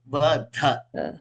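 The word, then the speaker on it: वध: can be Vada or Vadha. Yes. So, unless I stress on the Mahapranas and pronounce it properly, the meaning will not be right.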